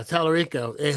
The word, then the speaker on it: Talarico: yeah, Talarico who just got a real big boost.